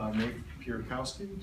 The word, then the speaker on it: Napierkowski: Napierkowski, did I say it right?